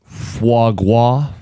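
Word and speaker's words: foie gras: Jim and John, it's pronounced Fuagua.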